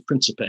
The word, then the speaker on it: Principe: People pronounce his name in various ways. Right. I think the dominant pronunciation is Principe.